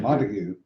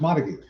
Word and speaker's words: Montague: That's Montag. No, it's Montague. It's like, Peter, it is not the English pronunciation. It is Montag.